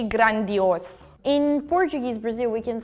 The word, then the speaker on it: grande: So like G, chi in the end of the words. So for example, grandi, we don't say grande, or like we usually change the D sound to G.